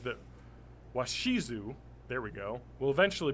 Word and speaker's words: Washizu: pronunciation guide for that because I'm going to mispronounce it so what is it how's it spelled w-a-s-h-i-z-u washizu washizu thank you I can't even say it